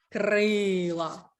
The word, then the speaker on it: крила: і записуємо перевірне слово крила крилаті перевірне слово крила якщо крилаті то наголос на крилаті наголос на а крила наголос на и у корені слова стає